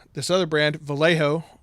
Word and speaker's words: Vallejo: When you have another company like this other brand, Vallejo, or Vallejo, if you use the Spanish pronunciation, even though this looks blue, there's probably blue, a little bit of red.